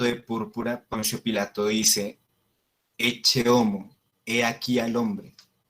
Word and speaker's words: ecce: Cuando dice ecce, quiere decir he aquí. Suena algo como lo pronunciarían de pronto en el norte de Colombia, ecce, pero no, es con una T, ecce, ecce, he aquí.